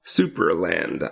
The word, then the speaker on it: Supraland: but mostly fun yeah we say it is super land i i always feel i need to spell it because i feel like people are going to hear superland supra land which is s-u-p-r-a land